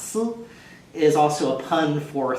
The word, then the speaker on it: 丝: of a thread, which in Chinese is sometimes pronounced si, is also a pun for thoughts or melancholy or love longing.